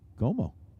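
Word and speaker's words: Comeaux: name but i mean it's like c-o-m-e-a-u-x como como esta not like that but i'm just saying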